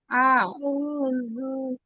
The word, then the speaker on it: أعوذ: ডালের উচ্চারণ কি ঠিক ইয়া আছে। থেকে নরম, নরম করে হবে না? হ্যাঁ, নরম পাতলা করে, দাঁতের আগা। লু লু উল উল আ উল আউযু বিরাব্বিন নাস।